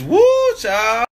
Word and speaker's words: whew chile: Like W-H-E-W Chile. Chile? It's woo, child.